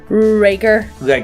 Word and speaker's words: Rigger: Rigger.